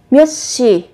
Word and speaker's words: 몇 시: Các bạn khi mà vị trí phát âm chờ, phụ âm chờ theo sau là phụ âm sờ, thì các bạn sẽ đọc gấp đôi phụ âm sờ lên.